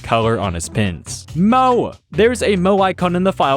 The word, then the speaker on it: Mo: Mo rhymes with Joe.